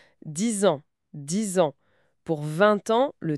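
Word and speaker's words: vingt ans: Pour 20 ans, le T final de 20 est muet normalement, mais la liaison fait entendre 20 ans.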